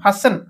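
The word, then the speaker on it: fasten: ফাস এটা ফাস ওকে ফাস টি সাইলেন্ট করে কি এন ফাসন ফ্যাশন ওকে ফ্যাশন অর্থ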